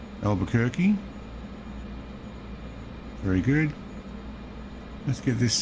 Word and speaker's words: Albuquerque: Albuquerque. Yes, I know I said it wrong. Albuquerque.